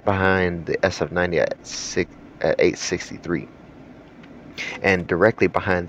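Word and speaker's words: Evija: right behind the sf90 at at 863 and directly behind that one is the first all electric hyper car with the Lotus AA I know it says aija it's actually pronounced a this car is absolutely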